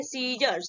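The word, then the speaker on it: scissors: जब एस के बाद सी आता है ना, तो वो क्या होता है आपका, साइलेंट होता है, उसको प्रोनाउंसिएशन नहीं करते, हम क्या बोलेंगे, सीजर्स, ठीक है, सीजर्स बोलेंगे।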